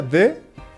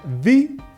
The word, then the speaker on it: the: Se pronuncia de cuando el sustantivo empieza con una consonante y se pronuncia the cuando el sustantivo comienza con una vocal.